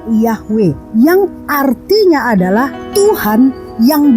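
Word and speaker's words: Yahweh: berasal dari bahasa Ibrani disebut yhwh membacanya Ia hwe yang artinya adalah Tuhan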